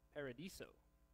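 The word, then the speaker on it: παράδεισος: to say the word paradise in greek is pronounced ready for this paradiso sounds like you're at starbucks or something but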